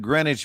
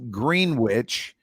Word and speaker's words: Greenwich: of new york that by all rights should be pronounced green witch right pronounced greenwich so you just you kind